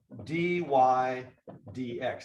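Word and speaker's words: dy/dx: d dx, first of all, of y, we write as this, and we say it dy dx. That's how we actually pronounce that statement.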